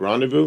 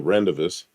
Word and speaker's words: Rendezvous: Well, it's a rendezvous is how you pronounce that word. What? Well, that's a French word. In what language? It's not pronounced Rendezvous. It is in English.